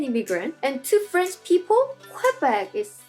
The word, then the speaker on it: Québec: okay so let's see quebec is an english pronunciation and the french pronunciation is quebec correct their slogan is